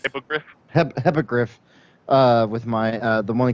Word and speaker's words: Hippogriff: Hippolyte? Hippogriff. Hippogriff.